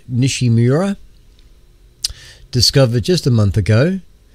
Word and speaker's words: Nishimura: of September uh now the a comment called nishimura I think that's how you would pronounce that a comic called nishimura discovered just a month ago could be visible